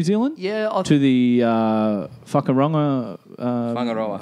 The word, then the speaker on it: Whangaroa: Whangaroa. Whangaroa. But the funny thing is, it's spelt like...